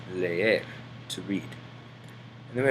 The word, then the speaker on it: leer: Notice that on this word, you pronounce the E twice. Leer, to read.